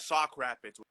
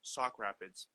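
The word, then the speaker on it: Sauk Rapids: but you are in South Rapids Minnesota right Sock Rapids with a s Sock Rapids South like north south east west right s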